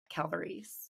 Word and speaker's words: Calvarese: but first things first if you're GNA say my name right you got to use your hands because it's Italian so you have to calvaries because folks always ask me how you pronounce it you stay with your hand so amazing okay future